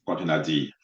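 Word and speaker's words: containerd: It's container D. Okay. It's not container. Okay. Because some of you are so funny. You call it container.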